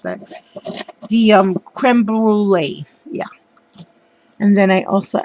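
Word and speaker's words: crème brûlée: um sprayed the box with the lindy's cream blue brulee spray i'm so sorry i mispronounced that the um creme brulee yeah and then i also added some lace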